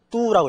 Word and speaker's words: 都: 모두란 뜻인데 여기서는 이게 모두란 뜻이 아니라 지명 혹은 수도 이렇게 되어 있기 때문에 首都, 뚜라고 읽어집니다.